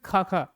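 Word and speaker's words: Xaxa: जरा प्रोनाउंस करो इसको जो जो जाजा बोल रहा है ना एंथ्रोपोलॉजी छूट जाएगी उसकी ठीक है काका का नहीं है ये है ना ना तो जाजा है सस खाखा क्या है ये वर्जिनियस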